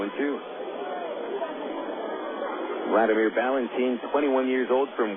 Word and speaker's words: Wladimir: two strikes on Valentin Vladimir is his name but it's spelled with a w WL a you don't call him Wladimir it's a one-w count